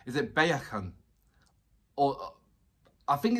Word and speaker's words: Baekhyun: his name is it baekhyun or i think it's it's like almost like saying beckham i'm almost saying bacon but it's like bae baekhyun so please i break